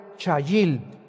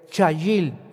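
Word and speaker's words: חיל: La palabra hebrea chayil. C h a y i l en el hebreo. Chayil.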